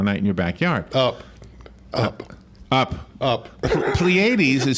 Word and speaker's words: Pleiades: Pleiades is spelled, I might be saying it wrong, Pleiades.